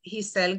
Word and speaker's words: Gissel: would be linkedin and that is jisel and i'll spell that for everybody that's g as in girl i double s like in sam e l and the spelling of my